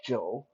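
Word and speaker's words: 九: Uh, Incidentally, that is the same word, same pronunciation for number nine, Joe.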